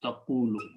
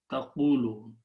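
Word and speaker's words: تقولوا: with a fatha, so we adjust the sound of these two, and we move the sukoon on the waw and the sound of waw on the qaf. So this final word becomes taqulu. It's pronounced as taqulu.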